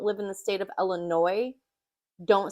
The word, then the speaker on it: Illinois: in the state of Illinois don't say Illinois they say Illinois the S is silent so if you don't